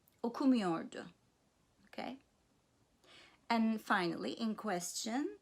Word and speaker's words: okumuyordu: So the negative, in the negative sentence, the main stress is on the syllable preceding the negative me. Gitmiyordum, okumuyordu, okay?